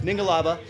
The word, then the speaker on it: Mingalaba: called mingalaba mingle love I think I've mispronounced it today so it's mingalaba he's got the next